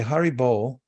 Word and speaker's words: haribol: bull means to to chant so they say haribol to encourage one another and they yell it